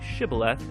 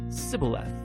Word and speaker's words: shibboleth: out that the III amides had grown up pronouncing that word differently so instead of saying shibboleth they would say sibila when that happened the Gili night guard would